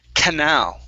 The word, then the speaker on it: canal: um this word here canal canal stress on the end okay Canal there you